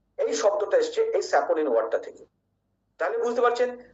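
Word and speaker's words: saponin: এখানে অনেক বন্ধুরা একটু ভুল করেন, তারা এনটাকে পরের এনটাকে লয়ের মতো উচ্চারণ করে লিন বলেন, লিগলিন বলেন, স্যাপোলিন বলেন। বন্ধুরা না, লিগনিন, স্যাপোনিন।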